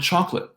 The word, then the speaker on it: chocolate: Like the second O in the word chocolate. It just melts away. Huh? The 3 syllables chocolate become 2. Chocolate. Chocolate.